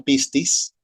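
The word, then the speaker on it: πίστις: embargo ahí queda verdad la palabra que se pronuncia pistis y sale 244 veces en el Nuevo Testamento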